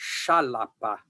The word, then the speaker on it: Xalapa: And the town itself was originally Xalapa. And when it was Xalapa, it was in the 1300s. And the Spaniards simply took the place over and started calling it Jalapa instead of Xalapa, but they originally wrote it with the X.